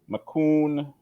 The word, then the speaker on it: McCoon: Minerva McCoon.